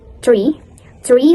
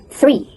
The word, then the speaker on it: three: Because I read tree like in Indonesian language we call pohon, so it's wrong. It's three.